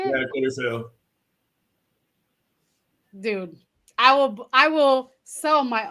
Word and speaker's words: Coliseo: yeah, Coliseo.